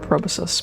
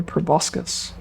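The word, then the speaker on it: proboscis: See, I was taught to pronounce that word probosus, but it really is very clearly proboscus.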